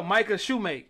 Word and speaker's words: Micah Shumake: yeah nevermind but no uh we got uh Micah Shoemake yes I said it right right you did